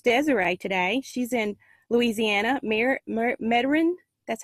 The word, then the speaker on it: Metairie: She's in Louisiana, Metairie, that's how you say it.